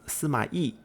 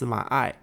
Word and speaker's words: Sima Ai: Sima Ai is another one of the 8 princes, and in Chinese his name should actually be pronounced Sima Yi. But historically there have been some accounts of his name being pronounced Sima Ai, and since the 8